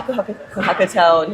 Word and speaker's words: kohakutou: So kohakutou?